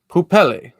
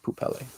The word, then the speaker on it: Poupelle: person thing named poopelle or poopel i think it's i think it's pronounced poop pele i'm just gonna call